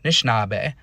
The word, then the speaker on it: Nishinaabe: So, they don't have that initial A. They just start with that N, Nishinaabe.